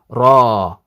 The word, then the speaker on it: ر: nine instances where the raw is heavy is when it's pronounced individually the individual letter raw so here raw when it's individual like this web browser by itself we say raw it's heavy so this is from